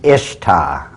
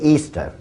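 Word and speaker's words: Ishtar: Easter now a lot of people think it's pronounced ishar i h t a r people check the Babylonian Telmo once again it is properly pronounced to this very day Easter and accordingly as The Story Goes whoever found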